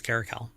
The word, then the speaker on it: caracal: and by the way I think it's a hard se sound so it is caracal so don't work on